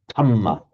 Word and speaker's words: dhamma: So the Burmese will pronounce it with the d, but without the aspiration, dhamma. Dhamma, yes. The Thais will pronounce it as an aspirated t, thamma.